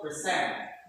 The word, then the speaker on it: present: Okay, most verbs with two syllables. They stress on the what? Second syllable. So for example, present. Everybody. Present, Increase. increase, Admit. admit, Admit. admit, Begin. begin, Decide. decide. So that is simple as A. Most verbs ends with the stress is on the second syllable.